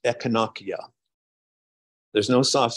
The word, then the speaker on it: Echinacea: pronounced e i and Latin properly pronounced has no soft sounds so that we say echinacea that's slang it should really be pronounced echonokia there's no soft sounds